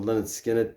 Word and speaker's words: Lynyrd Skynyrd: real progress in August 1973 their first album Leonard skinnard pronounced lard skiner was an immediate success and contained